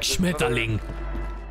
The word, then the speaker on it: Schmetterling: People that don't know German always pronounce it like Schmetterling. Like it's so aggressive.